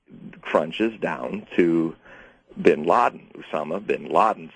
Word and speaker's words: Usama: it's very important to get the the correct pronunciation for instance when we say Osama that's like saying American yeah it's us Usama yeah yeah Usama and so his name uh is one of